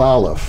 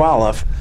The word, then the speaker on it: aleph: just i'm going to the mystical aleph silent the silent letter from which everything comes